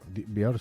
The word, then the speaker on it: Björk: Björk se pronuncia Björk. A todos nos han dicho que se pronuncia Björk. Björk, sí. Sí, pero como que esta es finesa, ¿no? ¿no? De Islandia. Islandesa. Islandesa. Claro, o sea, nos han dicho que es Björk, pues ya está, pues Björk, pero vete tú a saber cómo se pronuncia de verdad, ¿no?